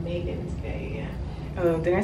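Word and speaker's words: Magens Bay: Let's pronounce it Megan's Bay. Megan's? It's Megan's Bay, yeah. Oh, did I say Magnus?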